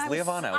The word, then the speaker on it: Lievano: manager at UrbanStems, Lievano. Hello. Am I saying your name correctly? You are. 4 syllables. Lievano.